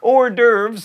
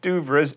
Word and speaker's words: hors d'oeuvres: like quinoa and quiche hors d'oeuvres not do VRA's and Penny not pen